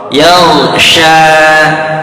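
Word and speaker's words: يغشى: Yaw, sya. Jangan seperti sin kecil sa. Yaw, sya, itu akan lain. Yaw, syanya cukup dua harkat aja.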